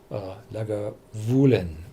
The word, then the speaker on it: Lagavulin: Every Gaelic distillery is pronounced on the second one, Clynelish, Lagavulin, Bo More.